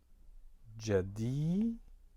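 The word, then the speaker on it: جديدة: As you see, that's ja with a short vowel I, you pronounce it ja, and d with a short vowel e underneath it, jadi, and then followed by the long vowel e, you'd say jadi, jadi, and then the letter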